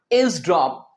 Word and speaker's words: eavesdrop: इसका प्रोनाउंसिएशन है इज ड्रॉप।